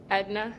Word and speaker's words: Aetna: I'm in Chicago, so we actually have an Aetna. Yeah, Is that how you say it? Edna, yeah.